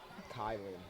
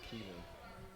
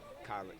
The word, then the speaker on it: Kylan: Kylan, not Keelan. 13. Somebody told me to say you were saying Kylan, K-Y name wrong. His name is Kylan. They said Keelan. Holt? Yes. Kylan Holt, not Kalen.